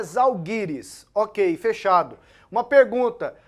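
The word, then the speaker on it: Žalgiris: Cup hein paqueto então a pronúncia correta do time da Lituânia é zalgiris OK fechado uma pergunta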